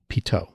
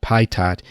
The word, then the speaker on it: pitot: the french physicist henry pito he was french therefore the pronunciation is pito not pai tat even though it's spelled